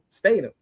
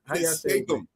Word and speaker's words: Statham: I was saying that earlier about Jason Statham.